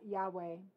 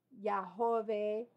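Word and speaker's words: Yahweh: agregado vocales a esto hemos agregado vocales y pronuncia yahwe también lleva la idea yahve o Jehová otros nombres en esto en el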